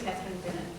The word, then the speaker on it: Catherine Bennett: Catherine Bennett, so intro yourself and your It is Catherine Bennett, it's not the other pronunciation, but I do like that.